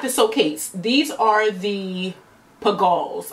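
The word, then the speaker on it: Pigalle: These are the Pagals. I believe this probably is pronounced. Pagal? I think it's Pagals. Pagals.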